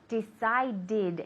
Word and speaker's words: decided: decide yesterday I decided decided exactly okay so here we need the extra syllable and the D sound okay can you say